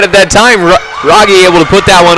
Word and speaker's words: Rogge: Marissa Schmidt says they're pronounced Gunther, Rogge, and Eilers. Thank you, so it is Marissa. Rogge.